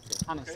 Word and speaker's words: Hannes: Hannes, yeah.